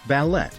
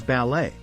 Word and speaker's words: ballet: correct pronunciation is breakfast the fourth word is ballet some people pronounce it as ballet but the correct way to say it is ballet next is Wednesday many